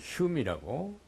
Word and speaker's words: Home: 이제 그 외무부 장관이 휴미라고 HOME 홈이지 사실은 근데 발음은 휴미라고 그래요.